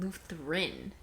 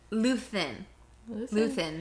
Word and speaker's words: Luthen: I just realized you said Lutheran.